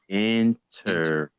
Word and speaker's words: interferometry: Interferometry.